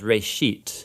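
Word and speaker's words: בראשית: Genesis comes from a Hebrew word. Uh it's pronounced Rashit.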